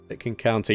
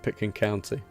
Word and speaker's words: Pitkin County: Pitkin County. Yes, that's right. Yeah, that's the way to pronounce it. Pitkin County.